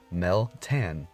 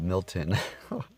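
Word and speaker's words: Meltan: that so yes and I have I been mispronouncing the new mythical x' name yes and let's say a right Mel tan there you go I was calling it Milton I don't know what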